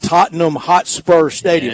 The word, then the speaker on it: Tottenham Hotspur Stadium: Minnesota minus 3.5 over Cleveland at Tottenham Hotspur Stadium.